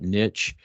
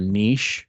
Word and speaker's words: niche: that have uh somewhat Niche um or Niche depending on how you might pronounce that at home uh these very